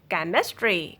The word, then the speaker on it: chemistry: Sometimes after a CH, then letter H will be silent. Chemistry, chemical, chlorine, chrome.